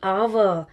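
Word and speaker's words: hour: And what about आवर? H silent है। Sound ओ की है। सो इट इज़ एन आवर। Right? H consonant जरूर है लेकिन साउंड जो है उसकी वोवेल है।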